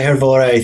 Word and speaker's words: Hrvoje: Hi, Hrvoje. Thanks for having me back. I need to make sure I'm pronouncing your name right.